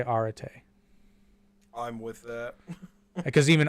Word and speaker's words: Arete: That is what it is because the E's, they have 2 different E letters in Greek and they flipped the pronunciations between ancient Greek and modern Greek.